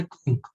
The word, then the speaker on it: quinque: Sir Google के हिसाब से क्विंक। किसके हिसाब से? गूगल। क्या बोलेंगे? क्विंक। क्विंक। स्पेलिंग गलत है क्या? नहीं सर, स्पेलिंग सही है, प्रोनाउंस उसको क्विंक करेंगे ऐसा बोला हूँ।